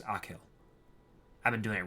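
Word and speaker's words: Achill: the five counties in the province of kak pronounced akill I've been doing it right akill yeah I did it Jack was all teeth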